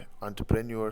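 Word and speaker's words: entrepreneur: तो ये एंटरप्रेन्योर है, एंटरप्रेन्योर सही इसकी प्रोनाउंसिएशन है।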